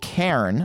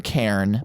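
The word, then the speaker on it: Cairn: be running a game called Karen I believe it's how it's pronounced c a i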